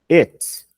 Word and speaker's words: it: Só que, quando você fala isso aqui, você tem que tomar cuidado, que é it. Vai ser essa pronúncia aqui, ó. Ó. It. Então eu vejo gente falando muito isso errado, tá? Então cuidado, é it, ok? E não eat.